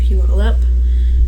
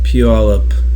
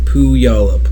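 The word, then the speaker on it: Puyallup: for about two years fun fact pew all up most people will read it and pronounce it wrong and it's not pu y'all up right yeah few all up they lived with stephen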